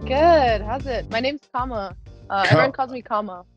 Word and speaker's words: Kama: doing I'm doing good how's it my name's Kama uh everyone calls me Kama yeah I've been